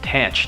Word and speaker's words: tanh: Perhaps the simplest variation is the tanh pronounced tanch neuron which replaces the sigmoid function by the hyperbolic tangent function.